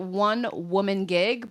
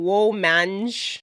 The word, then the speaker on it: WoahmanGig: You can find me on social media at One Woman Gig, but the woman is Woah. So it's one, like the number, WOAHMANGIG.